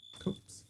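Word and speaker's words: copse: A copus of trees. Is that how you pronounce that word? Cops. Cops.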